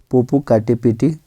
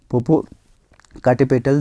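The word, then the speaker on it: Popocatépetl: में आपको वल्केन आर्क पोपो काटे पेटी ठीक है थोड़ा प्रोनाउंस गलत हो रहा है पोपो काटे पेटल देखने को आपको मिलेगा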